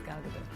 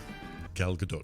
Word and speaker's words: Gal Gadot: I totally get it because it's hard to pronounce. But yeah, my name is Gal Gadot. Gal Gadot. Gal Gadot.